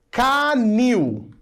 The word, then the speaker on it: canil: Canil. A última sílaba é a tônica, termina com IL e ela é uma oxítona.